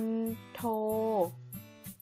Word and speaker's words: มณโฑ: ทำ ต่อ ไป คือ มณโฑ อ่าน ว่า มน โท แปล ว่า มเหสี ของ